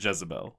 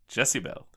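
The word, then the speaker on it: Jessiebelle: no they do not they do not pronounce it Jezebel they pronounce it jessibel multiple times cuz Jezebel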